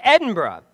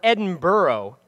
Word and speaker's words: Edinburgh: so have I it's Edinburgh just like they say it in Scotland or Edinburgh like we would pronounce